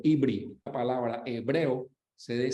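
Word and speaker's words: עברי: Se pronuncia Ibri en hebreo, Ibri.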